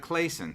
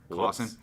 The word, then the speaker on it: Claussen: ministries university baptist church nick claussen pronounced like clayson sorry clawson here at beavercreek ohio